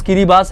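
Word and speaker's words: Kiribati: है किरी बास यस इसका प्रोनाउंस किरी बास है किरी बास एक कंट्री है और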